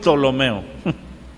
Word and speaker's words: Ptolomeo: es así conté ptolomeo Pero antes de la t tiene una p lomeo pero se pronuncia lo meo estos Fueron cuatro